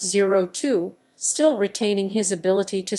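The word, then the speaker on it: 0²: the crystal shards as two pronounced zero two still retaining his ability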